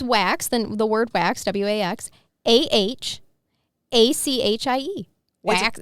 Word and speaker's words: Waxahachie: Bill retired after 35 years at a glass company in Spell it. I got to hear. Waxahachie?